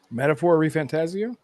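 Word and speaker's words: Metaphor: ReFantazio: How do you pronounce that damn thing? Metaphor Refantasio?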